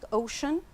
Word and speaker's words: ocean: Yes, the North Sea to the east and the Atlantic Ocean to the west. So here we pronounce the sea, sh, ocean.